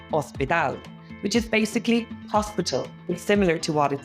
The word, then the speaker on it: hospital: same as English but in Spanish H is silent so it turns it